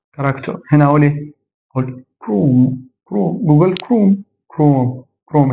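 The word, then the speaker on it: chrome: احنا عارفين هنا سكول سكول هنا اقول ايه انطق الاتش هقول ايه كراكتر كراكتور كراكتور هنا اقول ايه اقول كروم كروم جوجل كروم كروم كروم هنا اقول ايه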